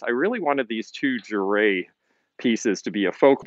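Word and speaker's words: Jere: How do I spell that? It's J-E-R-E, and I can actually show you the signature here. C. Juray, 1975.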